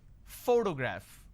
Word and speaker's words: photograph: pronounce this particular word photograph the correct pronunciation is photograph which means I'm stressing on this particular syllable which is the first syllable please give me the